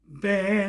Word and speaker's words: ben: 여기에도 있어요 그 그거 그 뭐죠 그 자원 발음 설명한게이 카페에도 있으니까 여러분들이 보시면 돼요 미요 벤 할자에도 벤 우리나라 만약에 비읍 받으면 벤 이렇